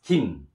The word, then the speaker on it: 김: 기역 write like this, 기역 and 이 and 니은 we pronounce as 김, 김, 김.